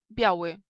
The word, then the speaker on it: Biały: Biały. Biały. Здесь i u nas как бы не произносится, да? Но смягчает, но мы не будем читать как J.